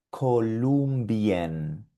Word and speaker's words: Kolumbien: La primera es el país de donde yo soy, Colombia, que en alemán se llama Kolumbien. Mira que es tal cual como está escrito.